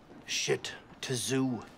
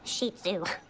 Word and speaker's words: Shih Tzu: So this is a shit tzu. It's pronounced shih tzu.